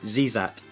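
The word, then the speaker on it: Xezat: however you pronounce it X's are often pronounce it as Z's if an e is right afterwards so zat zat is away leading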